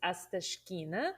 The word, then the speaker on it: Astashkina: Yeah, my last name is unpronounceable, but it's Astashkina.